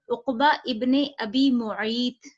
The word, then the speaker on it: Uqba ibn Abi Mu'ayt: The report mentioned that the Quraysh sent an Nadar ibn al-Harith and Uqba ibn Abi Mu'ayt.